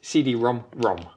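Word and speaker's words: CD-ROM²: You actually pronounce this CD-ROM-ROM.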